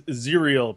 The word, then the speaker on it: Zeriel: And last up for noobs is Zeriel, pronounced like cereal. So not zyal or zerel.